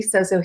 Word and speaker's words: Sozo: So that being said, I went through counseling training, inner healing training, Sozo Healing, which you did say it correctly, Sozo Healing, that means wellness.